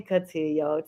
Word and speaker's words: Cutillo: my newest member of the podcast family Tony catillo Tony am I pronouncing your name right yo you got it